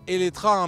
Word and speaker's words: Eletre: Colin Chapman et oui je dis étra même si ce nom de modèle il se termine par un e car en fait c'est la prononciation en hongrois et d'ailleurs ça veut